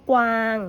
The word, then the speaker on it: กวาง: อย่าง เช่น คำ ว่า กวาง นะ คะ จะ ออก เสียง กว ว นะ คะ เนี่ย จะ ออก เสียง กว ควบ กัน กวาด ออก เสียง กอง